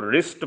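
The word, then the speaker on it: wrist: watch भी कहते हैं कलाई में रिस्ट wi-fi STD कोड यहां पर साइलेंट है इसको नहीं पढ़ना इसको रिस्ट पढ़ना है जोड़ जॉइंट जे ओ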